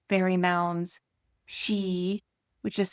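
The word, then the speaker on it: sidhe: The Kelts viewed sacred sites like fairy mounds she, which is spelled s i d h e, but pronounced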